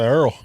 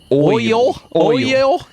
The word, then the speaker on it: oil: do they say some people say Earl most Earl the proper way to say it is oil that's too much effort